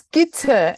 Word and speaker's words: Gitte: It's Gitte. I know the Danes pronounce things in a funny way.